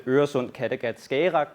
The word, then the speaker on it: Øresund Kattegat Skagerrak: I work at the JTS of the Øresund Kattegat Skagerrak program, which is the correct pronunciation.